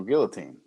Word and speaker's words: guillotine: saying it like in the french way like without the l you know the old guillotine you know i mean like it's not the first that's technically i guess the french pronunciation yeah like uh we'll say it here first so guillotine yeah so